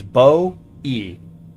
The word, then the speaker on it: Bowie: The most common pronunciation of Bowie knife is Bow-E.